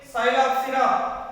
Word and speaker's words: Psilopsida: And at the same Psilopsida. P is silent.